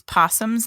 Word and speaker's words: opossum: I noticed that it is possums, not opossums, because we have opossums We have here. opossums, and even though it's opossum, it's pronounced possum.